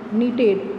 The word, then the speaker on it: knitted: thick C silent, badge D silent, writer W silent, knitted K silent.